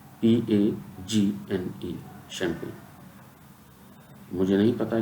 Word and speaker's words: champagne: French भाषा में CH का उच्चारण शा होता है। CHAMPAGNE, जी यहाँ पर साइलेंट है।